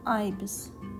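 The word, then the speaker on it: ibis: Или по-английски, как это произносится, айбис.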